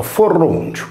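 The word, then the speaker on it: Forroniu: Il divo Foroneo, scritto Forronio e pronunciato Forroncio, è un nome prettamente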